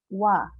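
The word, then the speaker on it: は: Jadi kata benda satu kita tambah dengan partikel H, tapi partikel H ini dibacanya adalah wa.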